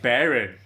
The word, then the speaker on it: Barron: infertile too i know it's spelled differently but it's pronounced the same way i know oh yeah